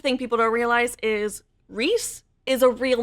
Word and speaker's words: Rhys: Here's the thing people don't realize is Rhys is a real name. This is not a name that Sarah J. Maas made up. Rhys, R-H-Y-S, is a popular name.